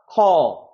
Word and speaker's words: call: 그래서 우리가 콜이라고 읽는 게 아니라 call, fall이라고 읽는 게 아니라 fall.